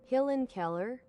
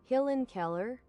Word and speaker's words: Helen Keller: Killen Keller. Hillen Keller. That's not your language. That's how it's pronounced. You're not special. You're not different. You're not the honored one. Helen Keller.